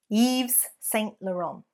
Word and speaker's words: Yves Saint Laurent: Sarah Eve Sal are not youth Saint Laurent Yves Saint Laurent no Yves Celeron Yves ephemeral I actually do